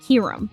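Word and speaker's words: Kyurem: a larger focus on Kyram. I know I'm going to get roasted for how I pronounce his name. I don't care. I'm not calling it Kierum.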